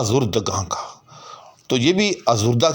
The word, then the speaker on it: آزردہ: کا، تو یہ بھی آزردہ کی جمع جو ہے آزردگاں، کیونکہ آزردہ کے آخر میں بھی وہ ہے کہ جس کا تلفظ نہیں ہوتا، یعنی ہائے مختفی۔ اور یہاں حسن اتفاق